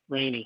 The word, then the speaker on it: Rainey: Spell that. R-A-I-N-E-Y. Ma Rainey.